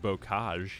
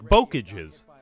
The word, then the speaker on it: bocage: died sir fun fact I learned to pronounce the word bocage here it looks like bookages all right so uh